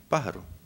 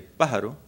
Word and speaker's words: pájaro: On the other hand, if I say pájaro, because of the accent on the first syllable, the Spanish bird flies through the air like an arrow.